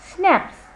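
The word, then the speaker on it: schnapps: इसका प्रोनाउंसिएशन होता है स्नैप्स. इट इज a German drink and इट is made of grains. उसका pronunciation होता है स्नैप्स, स्नैप्स.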